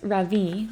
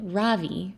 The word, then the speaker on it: Ravi: It's pronounced Ravi with a soft Ra and a strong V. In Sanskrit, it means the sun. In America, people call me Ravi with the stress on the first syllable.